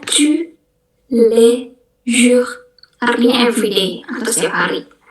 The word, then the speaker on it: tous les jours: Itu bacanya tous les jours, artinya everyday atau setiap hari gitu.